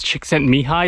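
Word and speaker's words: Csikszentmihalyi: can see that in mihai impossible to pronounce chick sent me high systems approach to creativity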